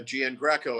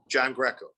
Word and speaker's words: Giangreco: because it was simplified nobody could uh gian greco actually don't even pronounce it properly it's actually john greco means john the greek mr john greco so